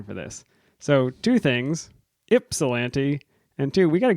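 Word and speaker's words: Ypsilanti: specifically about the Brewer from yep an Michigan pronounced ipsilanti no bother though everyone pronounces it incorrectly even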